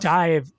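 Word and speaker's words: DIIV: Dive, if you're if you're listening, Dive is D I I V. That's how it's spelled.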